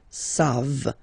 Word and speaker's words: savent: Here, classic ending for il and elle at the plural form, E-N-T. You don't pronounce it, so you get the sound savent.